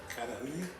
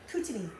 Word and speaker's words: Kootenai: We went fly fishing on the Cudahy. No, Kootenai. Kootenai, that's the He one. doesn't say it like a local.